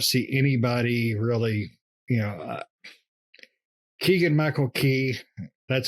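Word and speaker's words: Keegan-Michael Key: cast i don't see anybody really you know keegan michael key that's how you pronunciate it nick i had to google it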